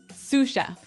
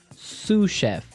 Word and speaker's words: sous chef: That brings us to our second word, sous chef. Sous chef. Sous chef. Sous chef. S-O-U-S. So the S is silent because it's like a French word.